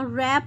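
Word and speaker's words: wrap: घुटनों को ठीक है निटिंग कहते हैं बुनना रैप होता है लपेटना नी घुटनों को कहते हैं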